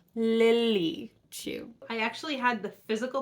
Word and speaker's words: Lily Chu: read the stand-in by Lucy Chu her name is Lily too I say it wrong in this video three times but her name is Lily Chu I actually had the